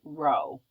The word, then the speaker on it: rho: p it's the Greek letter r which is pronounced row so rho equals mass times velocity let's look at the